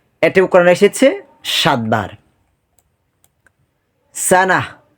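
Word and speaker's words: سنة: সাফি বোকাবা নির্বোধ এটা কোরআনে এসেছে সাত বার সানাহ বা সানাতুন সানাতুন সানাতুন সানাতুন ওয়াকফ করে পড়লে সানাহ মনে রাখতে হবে ওয়াকফের সময় আমরা যখন কোরআন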